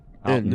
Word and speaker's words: Carlton: It's not ton, it's Carlton. N. Carlton. We don't pronounce T's.